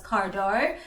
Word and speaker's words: Cardo: So yeah, I'm gonna be installing my my Cardo, aka Cardo, actually pronounced as Cardo, but it is me, Cardo.